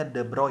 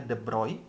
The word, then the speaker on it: de Broglie: panjang gelombang de broglie Koko bacanya d'brow Ya ini cara kita sebutnya d'bright untuk mendapatkan panjang gelombang